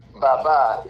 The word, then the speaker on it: Baba: Uh, Baba is the correct pronunciation, and the word Baba means father.